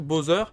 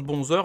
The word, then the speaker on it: Bowser: jeu c'est bon soeur alors vu comme ça s'écrit vous vous prononcez peut-être bowser mais moi depuis que je suis gamin je prononce buzzer alors je veux continuer de le prononcer 11 heures donc je